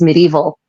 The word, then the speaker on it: medieval: So the word medieval, which in English we lazily pronounce medieval, it's not evil. It's got nothing to do with evilness or an evil nature or the evil dark ages.